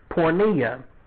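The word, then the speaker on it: porneia: be really no point to it so there's pornea and that's p oh that light's bright rn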